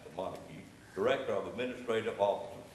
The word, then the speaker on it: Montague: That's how I learned how to pronounce it, Montague.